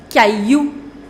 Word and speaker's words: caillou: Next, le caillou. Le caillou. Now, it is not pronounced, double L is not pronounced in French. In what case? When you have I-double-L together, you do not pronounce double L.